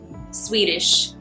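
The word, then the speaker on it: Sweetish: Swedish is what this is called. But it's spelled sweet, s w e e t i s h. It's not spelled like the country.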